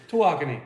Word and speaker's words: Tawakoni: Tawakoni.